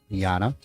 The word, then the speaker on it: Jana: And our timekeeper, I apologize to her, but I was saying Jana with a J. It's spelt with a J, but it's said Jana.